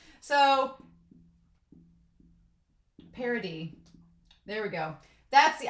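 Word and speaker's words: Paradis: is so we have parody the s is silent i also want to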